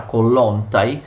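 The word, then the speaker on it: Kołłątaj: Lo stesso Kollontai, in realtà si pronuncia Kollontai, fu nominato vice cancelliere e divenne l'anima del movimento costituzionalista.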